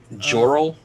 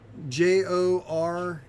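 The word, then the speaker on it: Jorell: that's a church yes almost how do you spell that person's name again sorry joral uh yeah it is j-o-r-e-l-l okay black dust dust black tusk did did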